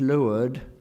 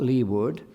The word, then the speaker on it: leeward: He knows about the nautical terms. He knows that it's leeward, not leeward. He hesitates as to whether windward would be windward or windward.